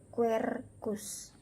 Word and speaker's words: quercus: Nah, kemudian QU dibaca KW. Jadi ada tulisan quercus tetapi dibaca quercus.